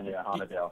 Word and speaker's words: Houde: He's got my attention now, and I'm gonna butcher the last name, but Alec Houde, is that how you pronounce it? Yeah, Houde.